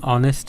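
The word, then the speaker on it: honest: আগে এ হয় তারপর হচ্ছে হি ইজ অ্যান অনেস্ট ম্যান হি ইজ অ্যান অনেস্ট ম্যান এখানেও এইচ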